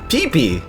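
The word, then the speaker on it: Piepi: are pretty much self-explanatory clefairy in german is pee-pee and this sounds similar to its japanese name peepee just with a long vowel in the first syllable i wonder why they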